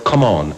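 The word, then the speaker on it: comaan: it at the time he uses the word come on which he spells as far as they are called c-o-m-a-a-n come on obviously a southern pronunciation and he has an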